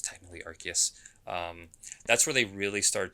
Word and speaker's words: Arceus: yes they with pokemon uh arceus or i pronounce it arceus but it's technically arceus that's where they really start to introduce these